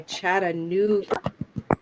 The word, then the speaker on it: Chattanooga: We've got Sharon from Chattanooga. Everyone try Chattanooga. Chattanooga. Yeah, Chattanooga is a blue moon word, Chattanooga.